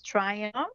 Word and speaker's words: Triumph: My website is Triumph Steps, Triumph, and I'm going to spell it. People think that I've said Trump. It's not Trump. It's Triumph. Close, but it's Triumph.